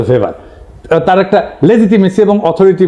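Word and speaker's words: Weber: না আরেকজন দার্শনিক আছে ম্যাক্স ভেভার এটা ওয়েভার বলে অনেকে এ উচ্চারণ আসলে ভেভার তার একটা লেজিটিমেসি এবং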